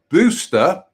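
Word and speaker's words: Busta: Located on Muckle Row, to the north of the mainland of Shetland, Buster, pronounced Booster, got that wrong, didn't I? Booster, pronounced Booster House, is a tall, harled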